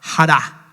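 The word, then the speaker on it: χαρά: Pero cuando nosotros vamos al original, es la palabra hará. La hará, me tocó entrar a buscar a ver cómo se decía, no la quería decir mal. Hará, se escribe chará, que es gozo, alegría, grandemente y deleite.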